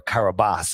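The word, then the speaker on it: Kiribati: and it was registered to the nation of Kiraabati or Karabas it's pronounced.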